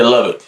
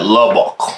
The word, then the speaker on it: Lubbock: i'm saying i say love it you know what i'm saying that's how you pronounce the city love baby yeah i'm saying i know i say love it dude y'all be like love buckle yeah i'll say would